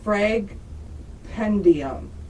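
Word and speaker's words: Fragpendium: pronounce this again the frag pendium yeah Fred pandium all right got it yes it's like compendium but it's frag I still don't know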